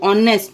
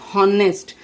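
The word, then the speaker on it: honest: एच is silent, you learn from O, ऑनेस्ट नॉट हॉनेस्ट।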